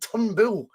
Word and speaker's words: Turnbull: from quite a lot david turnbull david tumble that's how i call it ton boo seems to be the the way it's pronounced the podcast so i